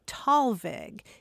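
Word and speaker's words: Thalweg: me about it uh it's usually pronounced tall veg and it is a combination of two german words and let's dispense with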